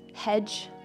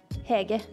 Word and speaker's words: Hege: looks kind of weird a lot of anglos say hedge or a huge hedgy heggy hey gay but it's actually hege nice to meet you